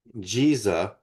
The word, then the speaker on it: Giza: Giza as in Jesus is is the true pronunciation. The way the Arabs pronounce what we call the Giza plateau.